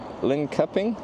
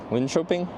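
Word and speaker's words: Linköping: You don't say it like lin cupping. Someone spell it properly phonetically. How do I spell this town name soft K? L shopping. Lyn Shopping Linoping. Lyn Choping.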